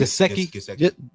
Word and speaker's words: Gesicki: Gesicki. Gesicki.